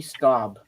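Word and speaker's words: Staub: for I don't have it I'm sorry uh it's spelled s t Au u b for the last name Rusty stob okay uh better laptop and more carnival rides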